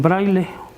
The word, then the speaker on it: braille: braille o braille también como es una palabra extranjera este es francés se escribe braille reyes escribe braille con doble ley y se pronuncia también braille en nuestros sistemas lo